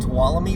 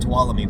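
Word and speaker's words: Tuolumne: So there's u McCullamy Wilderness and Towalami Wilderness. That's how you pronounce them. You could just say the Moch, but um Mccullamy Wilderness and Towalamy Wilderness um and Yuse in near Yusei Park.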